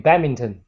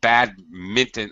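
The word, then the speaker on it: badminton: the people they say batminton I think you're right I think British pronounce it bad Minon with this pronouncing the N but Americans make the end silent so I think there's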